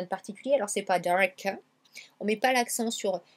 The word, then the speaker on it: dark: Là, on a un mot en une syllabe, donc dark. Dark. Et on allonge un peu le A ici. C'est un A long comme dans car. Dark. Vous voyez, c'est pas dark.